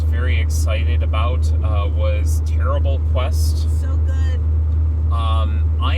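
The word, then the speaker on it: Tearable: excited about uh was Terrible Quest. So, good. Um, I am terrible at it. And it is spelled T E A R A B L E as in tear in a piece of paper.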